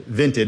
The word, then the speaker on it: Vinted: Vinted. V I N T E D. Okay. Vinted. Like vinted with an I. Exactly. Like vintage.